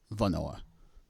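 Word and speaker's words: hvornår: The H is not pronounced, and the same thing here with Hvordan and also Vafor and Vanor.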